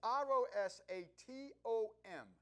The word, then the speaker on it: Rosatom: And I may not be pronouncing that right. It's Rosatom.